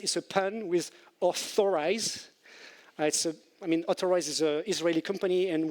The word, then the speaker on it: Otterize: Otterize is an Israeli company, and with the Hebrew accent, when you pronounce Authorize, it sounds like Otterize, hence the otter.